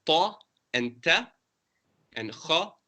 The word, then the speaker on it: خ: And then kha is pronounced from the top part of the throat. You scrape it a bit.